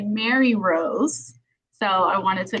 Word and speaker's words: Marirose: tech difficulties and um i am so sorry i butchered your name it's actually mary rose so i wanted to